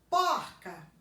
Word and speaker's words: porca: Porco, porca. Porco, porca. Porco eu pronuncio com esse O fechado. Porca eu pronuncio com o O aberto.